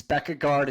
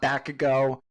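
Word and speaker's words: Bækkegård: It's Becca Guard. It's not Backo.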